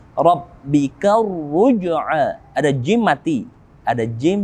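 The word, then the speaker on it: الرُّجْعَىٰ: Maka alif lamnya tidak kita baca. Langsung kita menuju ra yang bertasydid. Rabbika ruj'a.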